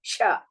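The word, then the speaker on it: श: I keep repeating for some people instead of saying Sha, they will say Sa. So note down that Shankara, Sha means Sha.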